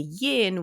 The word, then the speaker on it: yin: in and then the yin which is rhymes with dim and that's how I